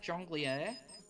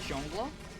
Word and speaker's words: jungler: a regular basis hook I'm pretty sure it's actually pronounced jungli jungli I swear to God all right here we go j l e r Jore word origin it's John blur oh it's just jungler it's just jungler oh